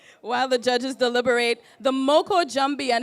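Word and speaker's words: Moko Jumbie: more about it while the judges deliberate the Moko jumpy and it's spelled m-o-k-o with a space j-u-m-b-i-e and it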